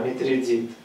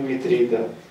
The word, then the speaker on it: Митридат: В греческом «а» как «е» или как «и» не читается, «а» читается как «а». Или тогда его надо читать не «митродат», а «митридит», если «а» читать как «и». Никто его как Митридит не берется писать. Глупость. Тогда почему Митридат?